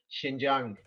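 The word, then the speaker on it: Xinjiang: uh meaning English and over in China they pronounce it Shin Jang yes and the thing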